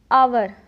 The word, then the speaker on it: hour: उसी तरह HOUR आवर नॉट आवर। तो यहाँ हम देख सकते हैं एच के तुरंत बाद वॉवेल है, ओ है, इसलिए यहाँ पर एच साइलेंट है।